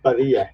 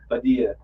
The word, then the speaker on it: Padilla: It's Padilla. Padilla.